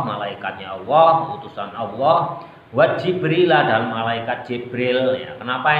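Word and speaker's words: جبريل: bisa dibaca fathah ya Jibril ini kalau kalian membaca jabril juga boleh dibaca Jibril boleh wa fathaha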